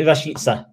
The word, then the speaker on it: Rashica: Norwich's new signing, Milot Rashica. Is that wrong? I'd say Rashica. Rashica, there you go.